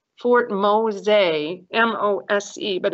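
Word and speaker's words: Mose: which is also still there it's called fort mosay m-o-s-e but it's pronounced mosaic and the spanish owned this territory and if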